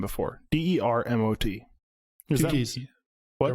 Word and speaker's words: Dermot: Okay, well, as a first name, when there's 1 T, is that pronounced Dermot or Dermo? Dermot.